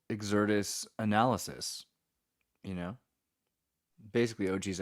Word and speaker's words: Xirtus: to pronounce it, and most of my favorite people do pronounce it Xirtus. I'll just be honest with you. But you know what? I like the American pronunciation as well.